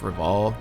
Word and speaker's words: Rival: There's Kapan, Fam, the head police officer Hardy, and totally not Star Wolf, Reval. Yeah, his name's actually just Rival, pronounced Reval.